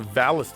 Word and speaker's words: Valis: At least they pronounced Valis this time correctly, with an L.